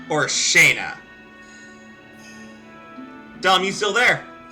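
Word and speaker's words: Shana: It's either Shauna or Shaina. Dom, you still there? Yes, it's S H A N A. Shauna. Shauna. Okay, that's what I thought. That's how I've usually pronounced it.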